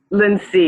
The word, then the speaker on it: Lincy: Is it Lindsay? Lindsay, yes. Yes.